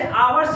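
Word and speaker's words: hours: क्या आपका कॉन्सोनेंट है, बट अब इसमें ए आवर्स नहीं लगाएंगे क्योंकि इसका जो प्रोनाउंसिंग है, जो हम उच्चारण कर रहे हैं किसमें आ, मतलब आ क्या है वावेल की तरह है, यानी प्रोनाउंसिंग हमारा क्या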